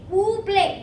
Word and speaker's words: Oobleck: Oobleck. Wait, how do you pronounce it?